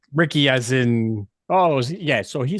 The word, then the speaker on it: Riecke: Guys, Michael Riecke, he told us how his name is pronounced. It is Ricky.